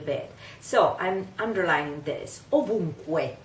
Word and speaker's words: ovunque: Ovunque. It ends with the syllable Q-U-E. In Spanish you would say it che, while in Italian you have to say que, que.